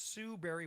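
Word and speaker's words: Sue Barry: Most people think berry is spelled like a fruit or Halle Berry, but no, it's Sue Berry with an A, like soul singer Barry White's first name.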